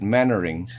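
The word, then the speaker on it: Mainwaring: that that you that you write main wearing and you spell it manner and you you you pronounce it mannering it's just the english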